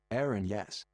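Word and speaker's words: Erinyes: How do you pronounce erinies? Greek. Erinies. Here we go. Hang on a minute. Aaron, yes.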